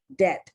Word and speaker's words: debt: Because the B is silent.